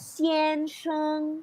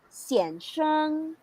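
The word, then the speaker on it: 先生: first character of this first the intonation of this first character emphasizes a second so you don't have to read this one as cn it's very awkward okay we can read this one as sienshang or one more time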